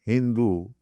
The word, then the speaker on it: Hindu: They gave the name Indian people as Hindu. Hindu means there is one river, Sindhu. The Mohammedans, they pronounce Sa as Ho.